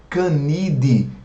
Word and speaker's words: Canidae: Fica Idaé escrito, mas termina com AE, então a gente pronuncia apenas o E. Vocês vão lembrar que eu comentei com vocês na aula sobre, por exemplo, a família Canidae, que é a família